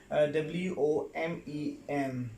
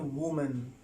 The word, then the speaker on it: women: Well, number 6 word is W-O-M-E-N. Yes, right here. That is women. The word is women. That is not woman, right?